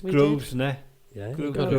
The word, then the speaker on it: Grosvenor: and we're at the Governor- Grosvenor Ballroom. We are. And Got if it you right. Yeah, it's We did. Grosvenor.